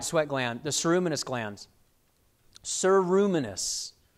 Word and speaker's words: ceruminous: gland the ceruminous glands sir ruminis like siru minus is how you pronounce that these secrete wax in